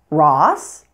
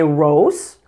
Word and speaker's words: Ross: be pronounced as ah like the names of these two stores Ross and Costco I've heard many non-native speakers say Rose or Costco you pronounce the O here just like you would in the words job or dog with an ah sound furthermore we automatically apply